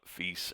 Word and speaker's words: fils: Duma, Fis, and Per, which is pronounced Duma, Fis, and Per, even though it looks like Dumas, Fils, and Per, or P-E-R-E.